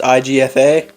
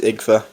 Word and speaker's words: IGFA: made the website name it's pronounced igfa Siri said it is igfa Siri you dumb little